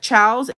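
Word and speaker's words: ciao: do anymore but if you see the Copic Chows and it's spelled c-i-a-o it's how they're spelled I don't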